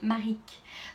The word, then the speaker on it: Maric: les estime franck guéi il s'appelle maric donc pour les filles qui avaient du mal à prononcer dans les testeuses hobo plusieurs héloïse georis de tricot louloute y en a une autre qui savait pas le prononcer si je me rappelle plus mais c'est bien mari qu'elle a six églises stitches c'est bien maric et en fait c'est